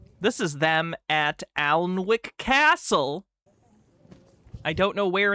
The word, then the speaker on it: Alnwick: Alnwick Castle sits on a powerful ley line that runs from the south of England. It's pronounced Alnwick Castle, Alnwick Castle.